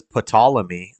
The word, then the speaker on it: Ptolemy: He doesn't pronounce them correctly, like when he says Ptolemy, the P is silent.